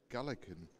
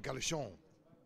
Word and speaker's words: Gallichon: Nathan Gallican. Gallichon. Oh, so a bit like bouquet, right? Nathan Gallichon. That's how you say it.